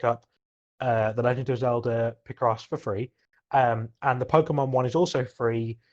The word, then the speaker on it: Picross: Did you just call it P-Cross? Is there a different way to pronounce it? Picross? Picross? Okay.